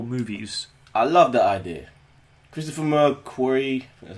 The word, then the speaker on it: Christopher McQuarrie: Christopher McQuarrie, that's how you pronounce it.